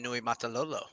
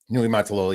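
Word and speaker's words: Niumatalolo: But another tough one that I eventually learned to pronounce and spell is now at San Jose State, Ken Nui Matalolo. Nui Matalolo, yeah, when he had key coach for Navy for a while too.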